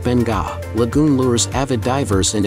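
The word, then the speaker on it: Beqa: At number 7, Bika Lagoon, about 144 kilometers southeast of Nadi, off Pacific Harbor, Bika, pronounced Benga, lagoon lures avid divers and adventure seekers, many of whom come here to experience the Bika Lagoon shark dive.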